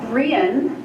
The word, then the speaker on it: Brianne: And that's Brianne, which is spelled like Brian, except there's this tiny little accent over the I. And so it's pronounced Brian, the Celtic way.